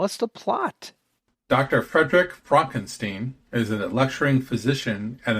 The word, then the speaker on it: Frankenstein: Frederick Frankenstein is a lecturing physician at an American medical school and is engaged to a socialite named Elizabeth.